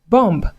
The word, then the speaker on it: bomb: Dear students, do not pronounce these common English words as bomb, womb, comb, or climb. This is because the B are absolutely silent.